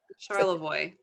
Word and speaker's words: Charlevoix: Charlevoix.